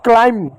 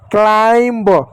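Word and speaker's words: climb: thumb नहीं thumb thumb इसको क्लाइम क्लाइम क्लाइम क्लाइंब क्लाइंब नहीं पढ़ते क्लाइम क्लाइम बी साइलेंट ठीक उसी प्रकार टुमब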